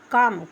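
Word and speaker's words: comb: Example कम सी ओ एम बी कम।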